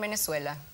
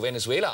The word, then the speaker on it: Venezuela: Das ist ja unglaublich, das ist schon ein Attentat, wie du Venezuela aussprichst. Ja? Das ist das Tolle. Im Spanischen wird das V, glaube ich, so wie ein deutsches B ausgesprochen, oder?